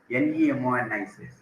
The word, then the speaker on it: mnemonic: M starts with M letter, but M is silent. NEMONIC, right?